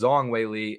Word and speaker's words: Zhang Weili: I've been pronouncing it Zhang. But apparently it's Zong Weili, and yeah, but Rose dominated those championship rounds, which is right.